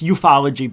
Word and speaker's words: ufology: Ufology, which I it's eupfology, by the way, in case you said it wrong.